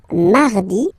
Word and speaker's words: mardi: Then mardi, mardi. So you can hear that you don't pronounce it that strongly, this R. Mardi, mardi, okay? You don't need to go too deep like mardi. No, no, no.